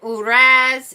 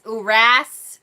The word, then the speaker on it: Uruz: First of all, the pronunciation that I'm getting from most people is Uruz. I've also heard it Uraz, Uras, Uruz. So I'll probably be saying Uruz for the most part today.